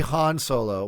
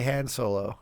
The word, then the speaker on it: Han Solo: is one correct uh it's supposed to be Han Solo but like we always used to say Han Solo you know right like